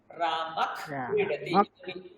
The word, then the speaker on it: রামঃ ক্রীডতি: যখন বিসর্গ থাকবে তারপরে যদি ক কিংবা খ থাকে, আমরা সেই বিসর্গের জায়গায় হালকা একটা খ উচ্চারণ করতে পারি।